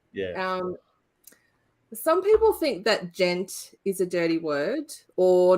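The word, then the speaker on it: djent: Just gent. Gent, because it's D is silent.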